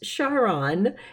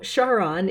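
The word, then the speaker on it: Charon: and you pronounce it you kind of say the beginning for Charlotte and so it's Sharon is the pronunciation not the old Roman Quran so Sharon is how you say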